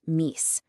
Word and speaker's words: mice: The word m i c e was mice and pronounced mace.